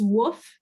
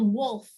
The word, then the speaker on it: Woof: and mrs woof but it's not spelled wolf it's spelled woof w-u-f and uh so most people did vote for wolf which was what i've said out loud for a very long time until i realized that